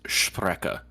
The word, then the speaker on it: Sprecher: Actually, I believe it's supposed to be pronounced Sprecher.